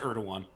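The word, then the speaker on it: Erdoğan: Is it Erdogan? It is pronounced Erdogan.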